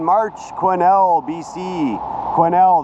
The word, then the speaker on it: Quesnel: 9 March quinel BC quinel the S is silent it's a French name spent two nights at